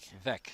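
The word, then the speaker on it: Veeck: It's spelled V-E-E-C-K. Okay, Bill Veck. Veck, yeah. Yeah, all right.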